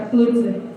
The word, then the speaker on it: Pulitzer: Vocês devem lembrar da Vaza Jato, que está como finalista do Pulitzer. Não sei se é assim que se pronuncia, Sam? É Pulitzer.